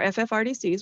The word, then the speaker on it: FFRDC: Our FFRDCs, which is Federally Funded Research and Development Center, we say it like a word, FFRDC.